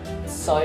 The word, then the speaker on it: Seoi: The pronunciation is, I use secure as securitization. Soi is the Cantonese pronunciation of water.